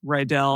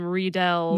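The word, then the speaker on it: Riedell: are yeah wait rle I thought it was ryel because that's definitely the pronunciation of the boot and blade manufacturer for figure skates ryell oh see I was calling them redell no I'm pretty sure it's ryel just I'm pretty sure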